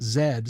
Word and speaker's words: Z: So every time you try and think of that computer that you had and the fact that Z is pronounced zed, so you claim I want that image to flash into your head.